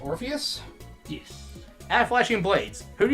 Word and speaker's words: Orpheus: Alright, so our next one comes from, I believe it's pronounced Orpheus?